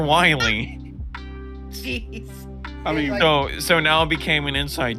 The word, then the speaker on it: Wily: him I was like it's not Dr willing dude it's Dr Wily so now became an